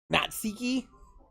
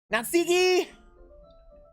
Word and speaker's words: Natsuki: jay cormac would like to have a word natseki ski natsuki i knew i pronounced it wrong but like when it came